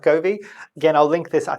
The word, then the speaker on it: Govee: This is a little device from, I think it's called Govee. It's pronounced Govee.